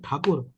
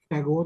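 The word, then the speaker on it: Thakur: grandfather of rind tagor he was actually RAB takur but British used to call him tagore because he couldn't they couldn't pronounce takur so rind tak's grandfather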